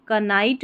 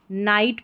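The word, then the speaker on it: knight: जब भी किसी स्पेलिंग में के एन साथ में आता है तो के साइलेंट रहता है, तो इसको हम कनाइट नहीं पढ़ेंगे, नाइट पढ़ेंगे, NIGHT, नाइट।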